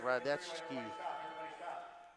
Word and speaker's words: Radecki: Peter Radecki, should be pronounced Radecki. Radecki. Uh-oh, what happened up there?